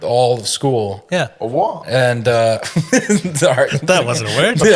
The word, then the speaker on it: au revoir: You're supposed to put your tongue against the bottom of your mouth. Yeah. Au revoir. Au revoir. Yeah. The R is really Yeah. back here.